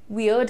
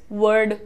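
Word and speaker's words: weird: यूज़ करते हैं बड़ा वियर्ड है अब इसी को प्रोनाउंस करते वक्त कई सारे स्टूडेंट्स वर्ड वेड पता नहीं क्या-क्या बोलने लगते हैं है ना शायद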